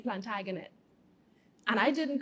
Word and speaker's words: Plantagenet: So we can't say Plantagenet when it's supposed to be Plantagenet.